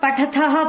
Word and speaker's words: पठथः: क्योंकि अगर आप यहाँ पठथः पठथः बोल रहे हैं तो गलत है। पठथः पठथ, आपकी आवाज से, आपके उच्चारण से भी आपको पता लगे कि एक में विसर्गे हैं और एक में नहीं है, ठीक है।